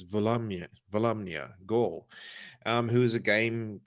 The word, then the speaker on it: Volumnia: it that's hard yeah because it's not volumino yeah it's volumia volumia who is a